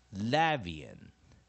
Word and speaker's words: Latvian: n，所以补上弱母音。那如果前面有个 i，就念 ian，所以就念 v n， Latvian， Latvian， Latvian。好，我们现在做最后一次音节的方式哈，l a g syllable v i syllable a n。Main stress first